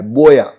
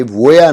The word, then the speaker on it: voy: तो मैं आपको बता दूं कि स्पेनिश में V को हम लोग B जैसे प्रोनाउंस करते हैं। कैसे? B for ball. ठीक है, तो ये वोया नहीं है, ये बोया है, बोया।